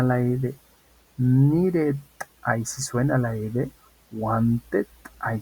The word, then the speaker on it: wanted: t es decir que cuando los verbos terminen en d y terminen en t vamos a poder hacer sonar la Ed cuando querramos hacer la